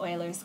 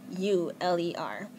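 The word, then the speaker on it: Euler: quite often called the Oilers constant and that's actually spelled e u l e r it's pronounced Oiler not uler and the letter for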